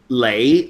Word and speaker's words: Lee: alone may seem long Leigh Leigh is Leigh is the Cantonese pronunciation for Lee because actually Lee is not pronounced Lee in Cantonese Lee is only pronounced Lee in Mandarin huh so